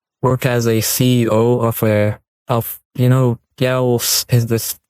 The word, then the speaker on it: GAoS: Of course, you have a lot of work as a CEO of GAoS. Is this how you pronounce the acronym? GAoS, exactly. I mean, You mean the you're the Gauss?